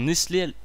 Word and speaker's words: Nestlé: Tout le monde connaît Nestlé ou tout le monde connaît Carglass, ça sert à rien.